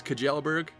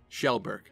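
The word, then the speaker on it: Kjellberg: Felix Kajelberg? Nope, Shellberg.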